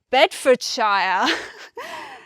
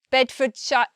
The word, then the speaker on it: Bedfordshire: a native language, said Bedfordshire. He said like Bedfordshire, something like that, where there are two pronunciations of the shire. It's sha or shire, not Bedfordshire. Like, it's not really extra on the end.